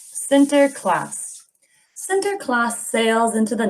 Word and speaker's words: Sinterklaas: name it's not white it's not p center center class yeah remember we said another one say santa